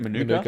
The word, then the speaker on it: Manuka: Last game of the round, we got the GWS Giants taking on North Melbourne in Manuka in Canberra. Is that how you say it? Manuka Oval, yeah. Manuka, there you go.